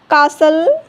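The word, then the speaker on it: castle: Often, listen, कासल, रेसल, soften, Christmas. ई silent, ई कब silent होता है?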